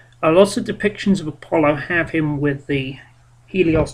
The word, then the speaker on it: Apollo: of the way first I have never heard it pronounced apolon I've always heard it pronounced Apollo um and uh helion or